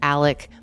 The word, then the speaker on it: Alec: And the father in this family is named Alec Murdaugh, even though the spelling looks like Alex Murdaugh.